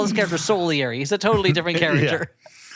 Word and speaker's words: Salieri: he is depressed because of his rival Solieri. That's how they pronounce it here.